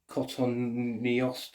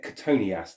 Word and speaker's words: Cotoneaster: The name Cotoneaster, people pronounce it differently. Cotoneaster, or I don't know. But Cotoneaster, that's what I call it.